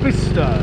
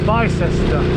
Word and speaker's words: Bicester: On the outskirts of Buckingham, heading for Bicester, or as it's pronounced, Bicester.